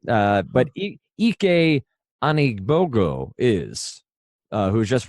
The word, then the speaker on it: Ike: don't blame you yeah most people would have gone with Ike no yeah ek ek Annie BOGO that's a good nice